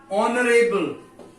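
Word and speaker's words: honourable: ऑनरेबल, ऑनर, ही इज एन ऑनरेबल person, यहां फिर वही ओ साउंड आ रहा है, वोवल साउंड आ रहा है, एन ऑनरेबल, एन एमपी।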